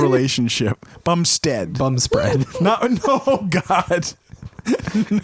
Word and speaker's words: Bumstead: And the bum spread. Like I would just have those sandwiches for his that last whole name? relationship. Bumstead.